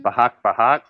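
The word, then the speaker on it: Bajac-Bajac: Bahak Bahak. Is that really how you say it, or do you have a stuttering issue tonight?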